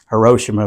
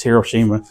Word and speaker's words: Hiroshima: her Hiroshima of course I always mispronounce it on purpose just as a joke call it Hiroshima but it's Hiroshima but uh but like I